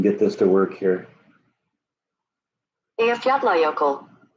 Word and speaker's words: Eyjafjallajökull: pronouncing this Icelandic Okay, here we go. word? Eyjafjallajökull.